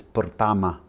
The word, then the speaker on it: pertama: and like it's not, there's a word for first is pertama. The a is the same. The A is identical in Spanish.